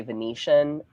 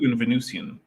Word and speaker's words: Venusian: I really I I guess I always want to pronounce it like it's Venice like I want to say Venetian but no that's a different word that's a different word okay because there's a venusian venusian atmosphere you can confirm that